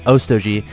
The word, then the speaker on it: Otog: We do have another queen down at Og's National as well as in his main and that is how you pronounce his name. It is Otog.